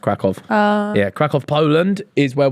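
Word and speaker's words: Kraków: Yeah, it's spelt with a Y, but it's pronounced Krakow.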